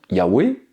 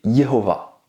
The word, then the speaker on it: יהוה: vient du fait que la troisième lettre c'est à dire le vase peut ressembler à au son ou un vœu ou un V selon le contexte la lettre iode sonne